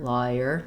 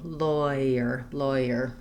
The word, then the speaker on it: lawyer: as liar, and then this just vowel changes a little bit to that oi sound because it's going to that glide er. I like thinking about lawyer, because that's a pretty typical American pronunciation, and I think it's hard to do the law and then go to the year, lawyer. It sounds a little bit strange to me. It's easier to go lawyer.